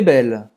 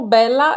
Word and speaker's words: belle: Termina a pronúncia no L. Tem gente que fala, é como bela, é como se fosse um A no português. Pode parecer no seu ouvido, mas na verdade é o fim da pronúncia do L, tá? Que esse L é bem pronunciado.